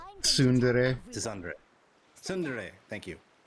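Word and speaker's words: tsundere: She's a uh how do you pronounce it? to Sunundre or something like that. Yeah, Sundre. It's Sundere.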